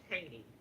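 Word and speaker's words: Cheyney: I believe that's what he was trying to pronounce. Yeah. Yeah. Yeah. It's called Cheney.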